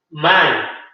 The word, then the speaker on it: mine: Mine. Se escribe M, Y, pero se pronuncia mine.